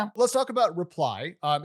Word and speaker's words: RPLY: Let's talk about reply. Um it's spelled RPLY and you guys call it kind of a unified messaging platform to help people survive their text message inbox.